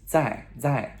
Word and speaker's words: 在: It's 在, okay?